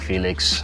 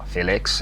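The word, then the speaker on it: Félix: the game a lot of opportunities for Xiao Felix um or Felix as he says because a brand new we've been mispronouncing this man's name the ideal finish essentially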